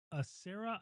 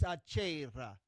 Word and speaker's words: Serra: Sarah? I've always called you a Sarah. It's Achera. You roll the R's.